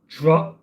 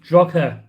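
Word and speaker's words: Drogheda: Overhead lines will only go to Drogler. Oh, no, you don't say the G, do you? It's Drogher.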